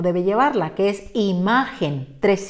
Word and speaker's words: imagen: cuenta porque no debe llevar la que es imagen tres sílabas terminen n y como su corazón como